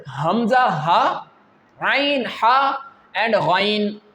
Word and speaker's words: غ: This pair is pronounced from that part which is towards your mouth. How can we pronounce this pair? Ghain Khaa. Ghain Khaa.